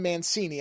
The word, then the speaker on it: Mancini: a whole at least he is Kellon Don Mancini I believe is the how you pronounce the last name is the person who